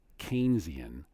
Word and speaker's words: Keynesian: economists this is pronounced Keynesian like Cain who slew Abel in the Book of Genesis Keynesian economists are not